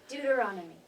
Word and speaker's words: Deuteronomy: Deuteronomy.